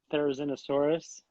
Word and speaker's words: Therizinosaurus: You know, I'm sort of leaning more and more toward Therizinosaurus.